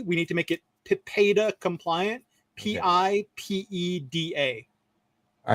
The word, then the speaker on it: PIPEDA: PIPEDA is how it's spelled. It sounds like you're trying to say PEEP a letter day, which stands for Personal Information Protection and Electronic Documents Act.